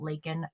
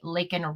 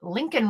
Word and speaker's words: Laken: He called her Lincoln Riley when he was asked to say her name.